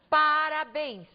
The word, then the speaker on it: parabéns: caso por exemplo da palavra parabéns pa para bens observem que temos aqui a última sílaba sílaba tônica a palavra é portanto de acordo com a posição da sílaba tônica uma palavra oxítona oxítona terminada em ens